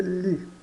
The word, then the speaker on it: gli: Se escreve gli, mas se lê li.